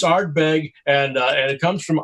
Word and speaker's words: Ardbeg: We are pairing today's cigar while we speak to Richard with Johnny, how do you pronounce that? So, that's going to be Ardbeg.